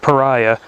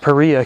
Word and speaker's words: Paria: Now at first I thought it was pronounced Pariah, but it's named after the Pariah Canyon. So that is actually how it's pronounced.